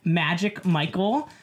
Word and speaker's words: Magic_Michelp: Yeah, so I'm on Twitter at Magic Michael. There is no A and the P is silent.